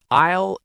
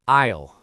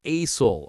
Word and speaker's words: aisle: Pro tip, aisle is pronounced like aisle. The S is silent, not asol, okay?